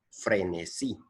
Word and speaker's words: frenesí: Una palabra aguda es una palabra que su acento está colocado en la última sílaba. Por ejemplo, frenesí. Frenesí.